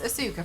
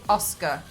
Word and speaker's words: Asuka: Oh man, I think it's it's Asuka from wrestling. No, sorry, Asuka. I keep getting the name wrong.